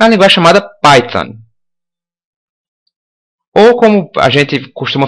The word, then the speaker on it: Python: Se você for pegar o pé da letra aqui, né, do inglês, tem esse TH aqui, então a gente teria que pronunciar Python, né, para pronunciar corretamente, mas para a gente não ser, enfim, para a gente poder se entender melhor, tipicamente no Brasil a gente fala isso Python mesmo. Então, ok.